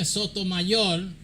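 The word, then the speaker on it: Sotomayor: Sonia, Sonia, Stomayor. That that's the way you say her name. Spanish, the Spanish name. Stoayol Elena Kagan and Katanji Brown Jackson desented.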